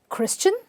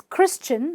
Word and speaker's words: Christian: S before the T-I-A-N you simply pronounce it at the end as a chin. So let's have a look. Are you a Christian?